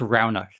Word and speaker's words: Roghnach: that's funny yeah yeah it's pronounced Roundup so think of the word like round yep so that way